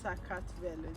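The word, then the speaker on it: საქართველო: also have universities sakatv georgia as a country is pronounced as sakatvelo the sacred fellow gamma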